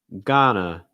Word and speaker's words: Ghana: high japan next one ghana gotta get an ah sound then again that a sound again that we've seen uh you may hear an awe sound or you may hear an ah sound you'll hear both from native speakers just heads up um